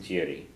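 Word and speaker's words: d'fhiafraigh: So that word that looks like it should be pronounced fiafri or giafri is pronounced jiri.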